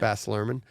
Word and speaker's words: Baz Luhrmann: So it's another Baz Luhrmann, is that how you say his name? Baz Luhrmann? Yeah. Baz Luhrmann.